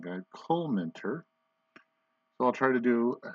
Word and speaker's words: Collmenter: There's the pronunciation guide, Collmenter.